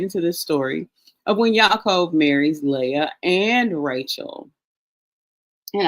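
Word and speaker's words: יעקב: So his name is Yaakov, pronounced, if we were to transliterate, we would be YA. And then we've got an Kof with a colon and then a Vav. So we have Yaakov.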